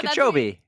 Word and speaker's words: Kipchoge: Kip, Kip, Cho, Cho, Gi. Gee. Oh, Gee. Kipchoge. It's Gee, not B. Well, oh, actually, I thought it was Kipchoge, but it's better than Kipchoge.